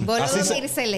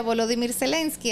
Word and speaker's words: Volodymyr Zelensky: Volodymyr Zelensky. Así se pronuncia. Como enumeró Trump. En ucraniano se pronuncia Volodymyr Zelensky, así es.